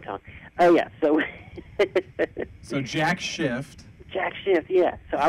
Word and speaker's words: Jack Shift: the Lancaster area called, now I'm going to pronounce this properly here, Jack Shift, S-H-I-F-T. So I don't want to get kicked off the air here.